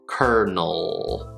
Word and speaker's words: colonel: sweeter bigger er so first syllable cur second syllable null null so we start with the n sound and then just a dark l oh kernel kernel colonel i am not a